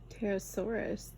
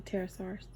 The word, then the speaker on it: Pterosaurus: The P is silent.